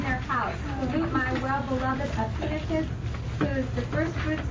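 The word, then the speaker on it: Epaenetus: It is Epinitus. Everybody hear that? Epinitus. Everybody say it. Epinitus. Once more. Epinitus.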